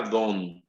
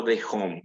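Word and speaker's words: D'Hondt: Este sistema se llama el sistema DOM. Algunos lo pronuncian como de home, pero es más conocido como el sistema DOM.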